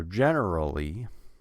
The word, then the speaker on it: generally: the rest of the word General Lee so generally so generally when you're now you can say